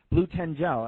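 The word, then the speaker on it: Blutengel: you know she had blue tangle or ten gel blue ten gel that's how you say it um she had that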